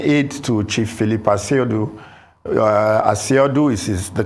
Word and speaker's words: Asiodu: I was an aide to Chief Philip paciodu asiodu is the correct pronunciation but usually when we say that many